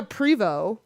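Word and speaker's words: Prevost: I have a silent T at the end of my name. Oh, you do? Yeah, Prevo, right? okay, so okay. the T's never pronounced.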